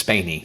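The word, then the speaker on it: Spaeny: I thought Kaylee's, how do you say her last name? I think it's Spaney. It's Spaney.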